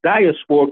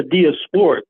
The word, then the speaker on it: diasporic: support diasporic music and you have the correct pronunciation because it's not dasporic. It is correct. The correct pronunciation is a diasporic but uh I think I speak Ebonics.